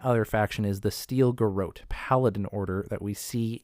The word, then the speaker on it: Garrote: Now, the Steel Garrote, or Garrote, I pronounce it as Garrote, is a paladin order, and which a paladin is essentially a martial zealot.